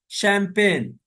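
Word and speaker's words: champagne: مستیش، مستیش، مستیش، موچ، chef, اسی طریقے سے شیمپین، شیمپین، فرانس کی ایک خاص شراب کا نام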